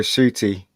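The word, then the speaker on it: Ncuti: um so the big news was how to pronounce this guy's name uh shooty yeah this is that's his name shitty i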